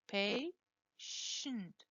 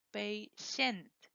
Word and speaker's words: patient: So if there is no E, you don't pronounce an E. You say patient, not patient.